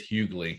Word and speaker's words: Hughley: And by the way, it is Hughley. He corrected me on that. So he said, you got to pronounce the G.